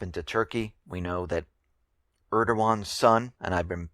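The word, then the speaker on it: Erdoğan: name wrong it's not Eragon it's Eran and I thank you uh to one of the listeners that helped me with this the g is silent and I will now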